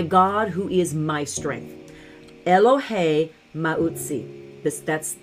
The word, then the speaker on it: Elohay Mauzi: who is my strength eloh Mai this that's that's the the Hebrew pronunciation for it um but it's what